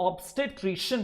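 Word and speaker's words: obstetrician: ये जो ऑब्स्टेट्रिशियन है, ये मैं दोबारा रिपीट कर देता हूं प्रोनाउंसिएशन, ऑब्स्टेट्रिशियन।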